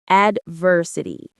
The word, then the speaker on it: adversity: Adversity. Stress on the second syllable.